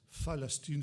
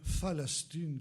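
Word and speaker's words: فلسطين: la Palestine parce qu'ils ne savent pas prononcer le paix. Le paix en arabe n'existe pas. Et les Arabes disent Phalastine.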